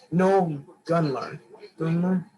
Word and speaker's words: Gunler: No Gunler.